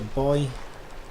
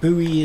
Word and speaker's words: buoy: It's a buoy. Or buoy as the Americans say.